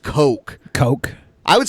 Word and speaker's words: Koch: it's so funny how it's that name is pronounced coke coke I would say Koch Koch cos I wasn't